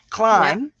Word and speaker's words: climb: The B silent climb. Edge. Edge has all its letters pronounced.